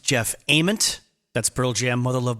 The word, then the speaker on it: Jeff Ament: and my own ego it is pronounced jeff ament that's pearl jam mother